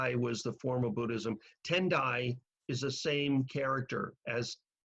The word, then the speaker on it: Tendai: the form of Buddhism tendai is the same character as tiai is just pronounced a Japanese way instead of a Chinese way and so what effectively